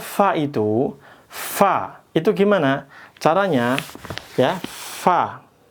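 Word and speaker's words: فاء: Gigit ya gigi atas gigit bibir bawah fa dan keluar anginnya fa. Kalau p pa pep enggak keluar anginnya.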